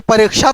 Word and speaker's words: परीक्षा: च छ का भी व्यवहार आजकल करने लगे, परीक्षा, कोई परीक्षा तो नहीं बोलते हैं, इसका सही उच्चारण करते ही नहीं कोई। उसका सही उच्चारण है क और श का मेल, परीक्षा, क्षति, क्षण, क्षमा, है ना।